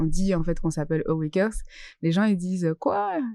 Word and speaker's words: AwaCœurs: la vraie prononciation officielle, c'est Awakers.